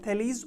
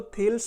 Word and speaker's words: Thales: आप में से बहुत सारे लोग उसको थेल्स पढ़ते होंगे उस मैथमेटिशियन का नाम, लेकिन एक्चुअल में उनका करेक्ट प्रोनाउंसिएशन जो है वो थेलीज ही है।